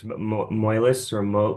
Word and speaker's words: Moelis: I don't know how to pronounce it, but Moelis or Yeah. Moelis.